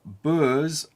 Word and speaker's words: Boer: Boers, but apparently it's more like Boer, so let's call them the Wea Boers.